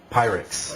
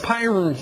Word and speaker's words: Pyrnix: How do you say it? Pyrix. Pyrnix, that's it.